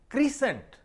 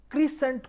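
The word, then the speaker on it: crescent: इसी तरह एक लफ्ज है क्रीसेंट। क्रीसेंट कोई प्रोनाउंसिएशन नहीं है। क्रीसेंट एक्चुअली क्रेसेंट का जो है वो डिस्टॉर्शन है। क्रेसेंट, क्रेसेंट है, क्रीसेंट नहीं है।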